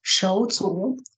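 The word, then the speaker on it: 手足: So, and when we look at the Chinese word for siblings, the Chinese word is pronounced shouzu, and it literally means hands and feet.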